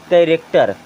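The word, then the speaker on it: character: अब यहाँ देखें एच को कर देंगे साइलेंट तो क्या हो जाएगा? कैरेक्टर।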